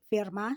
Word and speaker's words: Fermat: E dentro dessa relação também números figurados, outros matemáticos como Fermat, se eu pronunciei corretamente, Gauss também, eles analisaram, estudaram.